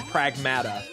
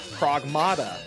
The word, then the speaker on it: Pragmata: the child talking and they both said pragmata in that conversation. And I was like, I'm supposed to say pragmata? I always thought pragmatada cuz that's like I look at it and phonetically that's what I would think it is.